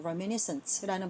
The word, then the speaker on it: reminiscent: 그래서 reminiscent는 불어에서 온 단어이기 때문에 약간 발음이 어려울 수 있어요. reminiscence라는 발음이고요. 외워두세요.